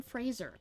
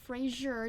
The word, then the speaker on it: Fraser: I saw an interview once where he's like, "It's it's Brendan Fraser. Fraser. It's not Frasier. It's Fraser. If you pronounce it Frasier, I'll find you."